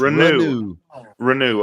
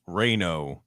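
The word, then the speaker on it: Reneau: Malik's last name re Ru just renew okay Malik renew okay like like two for renew two that's perfect you all thought it was raino before we knew better yeah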